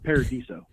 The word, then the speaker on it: Paradiso: saying it correctly uh it's a whole lot closer than everyone else gets it's a Paradiso Paradiso Paradiso I was close